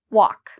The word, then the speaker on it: walk: the d okay and what about walk walk is there something I'm not pronouncing in this word walk do I pronounce every letter no walk okay so the L if you said the L I'm not pronouncing the L you're correct so in